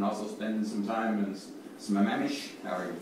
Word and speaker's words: Sammamish: in Kenmore and also spending some time in Sammamish, however you pronounce that. Sammamish, have I got that right? Sammamish.